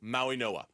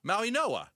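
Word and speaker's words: Mauigoa: How do you pronounce it? Maui Noah. Maui Noah.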